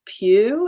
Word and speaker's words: Pugh: there's someone on twitter once mentioned um florence pugh is that how you say her name yeah